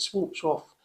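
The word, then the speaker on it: Schwarzkopf: do always use shorts I think we pronounce it swamps off don't they and I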